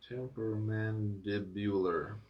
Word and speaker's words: temporomandibular: It's pronounced temporomandibular.